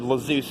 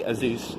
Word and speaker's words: Azuz: I said Lazeus at one point. It's actually Azuz, apparently.